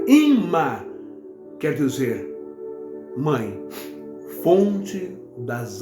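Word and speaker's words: אמא: e a palavra mãe em hebraico que se pronuncia imã quer dizer mãe Fonte das Águas que descem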